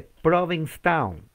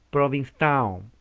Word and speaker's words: Provincetown: en lo que se llama la ciudad de provincetown y fue el 11 de noviembre como hoy de 1620 conway ahí está se pronuncia provincetown lado es la doble es como